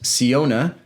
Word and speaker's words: Siona: the linkedin post but siona like that pronounced like fiona with an s that's super helpful especially